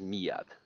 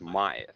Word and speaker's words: Miat: two ways of pronounciation people who don't know me pronounce it as Mia and people who know me pronounce it as Maya Maya okay I don't